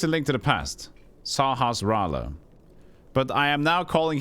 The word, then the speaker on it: Sahasrara: You know that pronunciation of the name of Sahasrara? It was correct. At least a link to the past. Sahasrara.